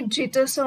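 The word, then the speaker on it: Geats: বিওভুলফ himself is দ্য king of দি গেটাস। এটাকে জিটাসও অনেকে বলে, গিটাসও অনেকে বলে। আমরা জানি মেনলি আমাদের Indian English, American English and British ইংলিশের প্রোনাউন্সিয়েশন আছে, তোমরা যে যেটাই কমফোর্টেবল সেটা বলতে পারো।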